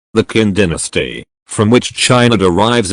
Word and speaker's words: Qin: bc kin dynasty the qin dynasty from which china derives its name kin is pronounced chin was the first official empire in